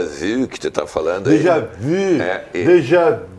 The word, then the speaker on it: déjà vu: Déjà vu. E eu quero te parabenizar, inclusive, pela pronúncia do U, tá? Pelo acento do U, porque exatamente isso.